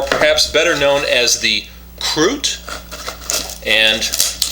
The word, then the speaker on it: Krut: better known as the Krut. And I think the Swedish pronunciation on that is Krut, like that, but we won't say it that way.